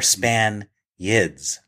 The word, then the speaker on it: Spaniards: But as written, the line is, that is, they're not real Spaniards. They're fake Spaniards. They are Spaniards like the Marx Brothers. They're Spaniards, but the accent is on the last syllable. They're Span-yids.